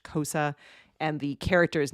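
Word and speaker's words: Xhosa: X X H O SA. I think it's pronounced Kosa and the character's name is Key XI.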